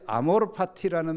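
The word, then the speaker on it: amor fati: 이거 아마 어떤 김현자라는 가수가 부른 그 유행과 같은데 사실 이게 정확한 발음은 아어로 파티가 아니에요. 파티 그러면 파리 PY로 아는데 이것은 여기에 파티는 Fati 라틴입니다.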